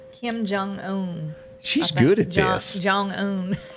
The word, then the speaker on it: Kim Jong-un: He says that really gets in, I'm going to pronounce his name wrong, into the area of Kim Jong, how do you say his name? Kim Jong-un.